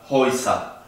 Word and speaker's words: Häuser: Tenemos la A con umlaut y la U se pronuncia como O, I. Entonces, house se le pone el umlaut y al final se le agrega la ER. Recuerden que la ER al final se pronuncia como A.